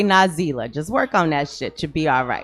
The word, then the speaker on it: Nazelah: find me on Facebook my name is na ze lah pronounced nas ela I know that some